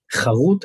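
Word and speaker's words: חָרוּת: Here we have differences between Hebrew words, charut and chirut. It's the same letters, but it's a different pronunciation.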